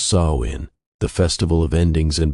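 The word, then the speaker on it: Samhain: They called it smon, pronounced saw in the festival of endings and beginnings.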